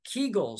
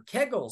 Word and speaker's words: Kegel: some pelvic floor exercises things like kull or Kegel depending on how you pronounce them they can make